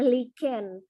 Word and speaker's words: lichen: Oke, so this is our today's topic about lichen or lichen ya kita bacanya, lichen.